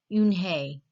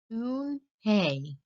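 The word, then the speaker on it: Unhei: Yes, it's pronounced Yoon-hae. And it means grace, Mr. Kim added. Yoon-hae, Joey said slowly, and this time perfectly.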